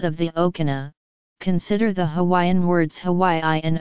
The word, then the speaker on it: Hawaii: pule, buel, pure, and buer, the word is spelled only as pule. However, hundreds of words were very rapidly borrowed into Hawaiian from English, Greek, Hebrew, Latin, and Syriac.